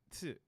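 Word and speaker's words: つ: The second exception is su, tsu, which adds a S sound and is pronounced with less emphasis on the T.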